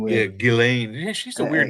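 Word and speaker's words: Ghislaine: Epstein and I seen one with Yeah, Gileain. Yeah, she's a weird name. It's pronounced Gileain, but it's it's spelled.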